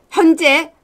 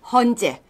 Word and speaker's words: 헌재: 바로 생겼습니다 무슨 일이었다고 현재 현재가 아니고요 헌재 아이 경상도 발음 때문에 약간 샜습니다 헌재 헌법 재판소인 체제에